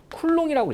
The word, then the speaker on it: 쿨롱: C라고, 대문자 C라고 쓰고요. 읽을 때는요 쿨롱이라고 읽어요. 자, 뭐라고 읽어요? 쿨롱.